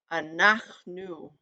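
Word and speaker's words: אנחנו: We have, how it's pronounced is anachnu, anachnu, we, anachnu.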